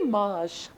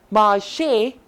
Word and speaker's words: marché: If this accent wouldn't have been here, it would be marsh. And I don't think that would mean anything. But if you put the accent here, marché, it becomes market. Like this accent above E gives the pronunciation of A. A-Y-A. Just like we have the words like way or say, this A pronunciation comes here like marché.